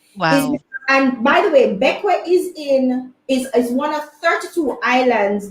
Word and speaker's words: Bequia: I think it's pronounced Bequia. At least that's what Google says.